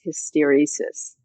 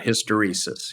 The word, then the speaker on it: hysteresis: I've never heard it said out loud, which is hysteresis. Yes. Which sounds like hysterical.